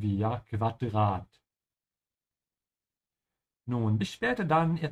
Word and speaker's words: Quadrat: Make sure to pronounce the U here like a soft V, ja? Quadrat.